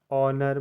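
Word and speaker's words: honour: मतलब घंटा ए ओ एन ओ यू आर ऑनर मतलब सम्मान एच ओ एन ई एस T honest मतलब ईमानदार यहां एच आपका साइलेंट है नंबर सेवन है के साइलेंट एन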